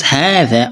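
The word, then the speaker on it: هذا: Okay, when you pronounce hadha or hadhi, did you notice that you pronounce with a alif mat? Aha, aha. You see, but the alif mat is not written. The alif mat is not what? It's not written there, but it's pronounced.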